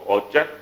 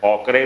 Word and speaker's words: ochre: अंबर, ओपल, ओचर, तो ये भी अंबर, ओपल, ओचर भी आपको ओचर, ओकरे भी कुछ लोग प्रोनाउंस कहते हैं, आपको OCHRE ओकर, ओकर कोई, ओचर कोई बोलता है, आपको अंबर, ओपल, ओचर, युग, युगा, युवा से रट लेना है।